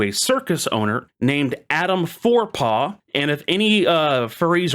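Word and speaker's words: Forepaugh: Um even though it's spelled differently like that, spelled F O R E P A U G H.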